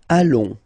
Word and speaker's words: allons: Nous allons. Final S not pronounced, and then when you get this ON combination, you get this nasal on, really in your nose, okay?